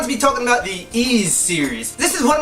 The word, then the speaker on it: Ys: didn't have the internet, we used to call this Ys, we just didn't know, but it's pronounced Ys.